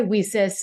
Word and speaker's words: WiCyS: yes and very very much so so when whis was started and we go by whis our acronym is wyc Ys but we pronounce it whis like we sister because we're